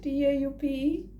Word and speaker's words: taupe: Taupe? I think it's taupe. Taupe. Because it rhymes with dope.